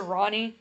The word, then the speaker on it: Ronni: Oh, I should mention, everyone calls her Ronnie, which is spelled Ronni.